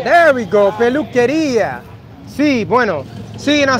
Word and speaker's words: peluquería: Peluquería. There we go. Peluquería.